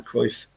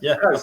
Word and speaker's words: Cruyff: was a picture of Ajax and Johan van Cruyff. Johan Cruyff. Yeah. Sorry, not. Did I say Van? Why did I say Van? You said Van Cruyff. No. Johan Cruyff. Yeah, sorry. Yeah. Cruyff.